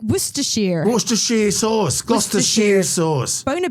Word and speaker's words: Worcestershire: It's like Worcestershire.